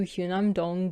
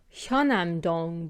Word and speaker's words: Hyunam-dong: I've been mispronouncing this the whole time, but like, if you look at the Korean spelling, I was just getting the vowel wrong. This is why romanization is hard.